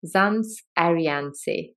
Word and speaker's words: Zands Adriaanse: for another episode of The Money Matters podcast zams ariance hey thanks how are you hey Uncle I'm